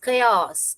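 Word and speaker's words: chaos: ख अयास खयास इसको कैसे पढ़ते हैं? खयास इन द खयास एंड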